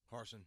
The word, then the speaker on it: Harsin: I want to see what Brian Harsin. Is that how you say it? Harsin, yeah.